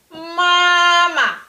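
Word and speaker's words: 妈妈: Chinese native speaker will say mama when we say mama without any waves.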